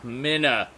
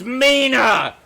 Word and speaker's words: Mina: for that to be a moment here ah Minna it's Mina 1n Mina to ends Minna pers is spelled of what end therefore Mina walking in